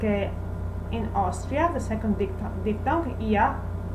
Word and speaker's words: Austria: have trouble with is the diphthong AU, like Austria. As you can see, Austria, the country Austria, is pronounced Austria. And the basic sound of its vowels doesn't change, Austria. Americans, English speakers say Austria, but not Italians.